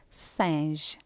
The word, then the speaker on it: singe: And a G or a soft G, so singe.